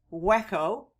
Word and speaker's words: Waco: Waco also lies on the Brazos River and was founded in 1841 on the site of the Waco, spelled in Spanish Hueco, and pronounced Waco, Indian village near a